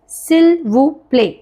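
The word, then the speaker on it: s'il vous plaît: French yes it's quite polite so वी से सिल व प्ले रिपीट आफ्टर मी सिल व प्ले नाउ all together this this you know whole thing is just one word so इट इज़ सिल्व प्ले not together फ़स्टर सिल्व प्ले सिल सिल्वो प्ले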